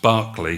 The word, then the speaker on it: Berkeley: women at this plantation i pronounced barkley from berkeley gloucestershire the sponsors of this